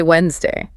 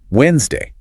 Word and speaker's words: Wednesday: The silent D. This is a classic shibil, a tiny detail that marks you as a fluent speaker versus a beginner because everyone wants to say Wednesday.